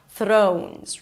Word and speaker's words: Thrones: Throw. O as in go. Make sure you add a w at the end. Throne. and add a Z. Thrones.